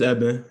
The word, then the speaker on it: Eben: Is it Evan or Eben? It's Eben.